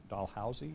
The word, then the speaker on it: Dalhousie: She has taught at the University of Alberta and Dalhousie University. Did I pronounce? Okay, good. Like a dollhouse.